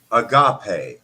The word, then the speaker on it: agape: a gape love um what reminds me of agave like that's how I like you know I hear it almost I'm like aave but it's essentially the highest